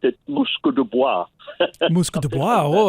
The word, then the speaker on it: Musquodoboit: So it seems to mean that a place where, first of all, the pronunciation would be Musque de Boguec.